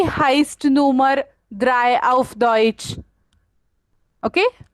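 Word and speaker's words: heißt: या स्क्रीन पे आपको दिखेगा कि कैसे बीटा लिखा है, लेकिन प्रोनाउंस करते वक्त आप उसे हाइब्ड नहीं बोलने वाले हैं, हाइस्ट बोलने वाले हैं, बिकॉज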